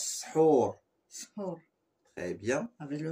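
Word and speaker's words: سحور: Sahur. Très bien, répète. Sahur. En fait, ça se prononce comme s'il y a un AU, Hur, et ça s'écrit OU, Sahur. Ça se prononce Sahur.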